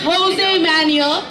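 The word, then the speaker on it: José Manuel: It's pronounced as Jose Manuel.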